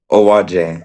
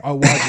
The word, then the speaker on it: Owoaje: Owaje. Owaje, yeah, Miss Owaje.